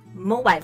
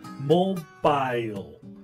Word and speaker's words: mobile: as in Mobile Phone mobile phone yeah you see the American way is to say mobile while the British is mobile so is it a